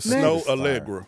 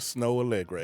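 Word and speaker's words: Snoh Aalegra: jamming Snow Allegra.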